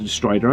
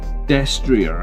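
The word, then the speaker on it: destrier: Desrier I think is how you're supposed to pronounce it. Night Destria. I think it's French. Someone told me it was French.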